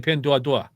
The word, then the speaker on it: Pinduoduo: Yeah, exactly, Pinduoduo. I said it right because I hear him say that all the time. People will say Pinduo.